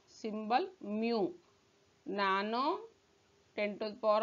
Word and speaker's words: mu: Symbol is mu. This is mu. Pronunciation mu.